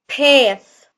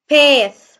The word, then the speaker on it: path: طريق أو ممر صوت TH هنا هيكون ث، فنقول path path. TH نطلع لساننا في TH لما تتنطق ث أو ذا، بالذات الث عشان نفرقها ما بين الاس، يعني نفرقها عن حرف الاس، فنقول عليه ايه؟